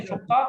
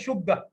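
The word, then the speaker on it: شقة: ہے یہ شقق، اور سعودی لہجے میں لوگ بولتے ہیں شگہ، اور بعض شگہ بھی کرتے ہیں، شگہ، قاف کو گاف پڑھ دیا، شین کو زبر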